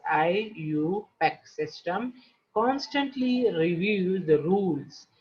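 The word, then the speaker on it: IUPAC: pure and applied chemistry abbreviated as io pack pronounced as i you pack system constantly review the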